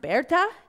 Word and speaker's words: Berta: a good German name in German it's pronounced Berta and in English its Bertha and she was not